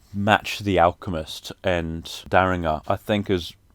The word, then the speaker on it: Daringer: alchemist and action bronson daringer i think that's how you say his name maybe derringer i'm gonna say daringer he was on there